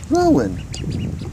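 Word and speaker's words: Rouen: Yeah, and that's its name, Rowan. Sheesh, that's kind of weird. I think it's spelled R-O-U-E-N.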